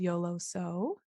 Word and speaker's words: YOLOso: my shop is called YOLO so a lot of people always ask me how the heck you pronounce it and it's yoloso comes from YOLO which is of course you only live once and then uh kind